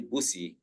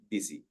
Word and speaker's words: busy: Usually with the letter I, sometimes the letter Y, and in the word busy, it is spelled with a U, but we do not say busi, we say busy.